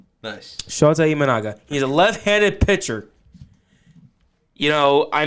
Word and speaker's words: Shota Imanaga: Shota Imanaga. Nice. Shota Imanaga.